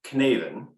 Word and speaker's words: Cynefin: And if you're struggling to figure out the correct way to pronounce this, it's Cynefin, but which really is Welsh for the place.